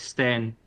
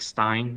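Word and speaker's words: Stijn: the J okay yeah my Dutch pronunciation from my name is like Sten yeah but most people say like Stein which is a little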